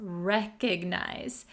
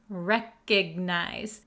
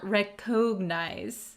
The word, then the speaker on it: recognize: word we have recognize recognize be careful with the pronunciation it does have an O here but we're going to pronounce it recognize recognize not recognize okay recognize recognize all right so